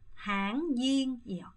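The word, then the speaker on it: tháng Giêng: 물론 여러분 당잉을 도저히 발음 못하겠다 하시는 분들은 당목이라고 하세요. 근데 여러분 될 수 있으면 당잉이에요.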